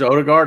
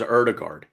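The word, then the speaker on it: Ødegaard: get and should be announcing imminently is Martin Odegaard, or Erdegaard, I think is how you pronounce that O. It's it's a O, like Odegaard. Or Odegaard. It is O. It is Odegaard. I heard it was Erdegaard.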